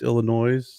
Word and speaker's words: Illinois: They pronounce the S, Illinois, on the Silent Bob, on James Silent Bob.